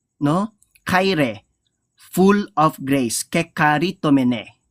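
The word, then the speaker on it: κεχαριτωμένη: kaire, full of grace, kekaritomene. Dun sa ibang naman pronunciation, keharitomene.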